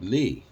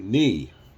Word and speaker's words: knee: you say, look up knee. Well, I'm looking in the ends. How do I know the K is silent? The hell is that? To be able to say knee and it's going to